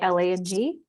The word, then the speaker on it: ylang: awaken their senses roads Jasmine Lang ylang and that's the one that's spelled really funny y l a n g Lang Honeysuckle and gardenia and